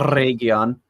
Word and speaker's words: Eregion: I pronounced it properly. Yes. Eregion.